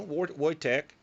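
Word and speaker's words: Wojtek: watch w-o-j-t-e-k watch Tech they pronounce that word or you know white Tech so woy Tech and he was trained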